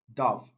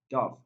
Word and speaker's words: dove: number 11 dove dove i've heard my students as well as many speakers of english language pronouncing this particular word as dov no that's wrong the correct pronunciation is so let's look for the option that has that central vowel sound brush brush yes this is the correct answer brush it contains the ah the central vowel ah option b we